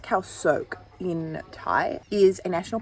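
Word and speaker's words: Khao Sok: very well so basically kyle sock sorry it's actually pronounced cal soak in thai is a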